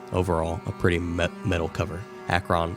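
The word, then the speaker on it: Acheron: large cave the word Akron written across the top in big bold red letters overall a pretty metal cover Akron spelled a-c-h-e-r-o-n in Akron Ohio like Akron yeah that's it actually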